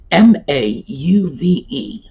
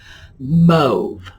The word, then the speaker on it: mauve: MAUVE. That's a shade of a sort of pale pinkish purple. What do you think? Mauve.